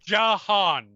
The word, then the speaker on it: Jahan: Jahan. 2 syllables.